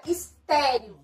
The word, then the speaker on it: estéreo: Um exemplo é a palavra estéreo. Estéreo, a gente percebe que a sílaba tônica está no T. Ou seja, última, penúltima sílaba tônica.